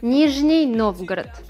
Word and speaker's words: Nizhny Novgorod: de Rusia, a orillas del río Volga, encontramos Nizhny Novgorod. ¿Se pronuncia así? Más o menos. Me estoy equivocando, ¿no? Un poquitito. Enseñame más que nada en el acento uruguayo que se nota. Nizhny Novgorod.